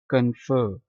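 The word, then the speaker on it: confirm: बेइंसाफी मिस्टो give कंफर्म कंफर्म यह जो आर है यह साइलेंट है कंफर्म नहीं पढ़ना आपने कंफर्म ग्रांट अता करना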